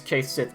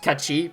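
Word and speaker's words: Cait Sith: I said before that I'd never use Keith Sith ever. I think I might pull him out at some point. That's also technically not how you pronounce it. It's technically pronounced Kachi because it's a traditional Scottish folklore character.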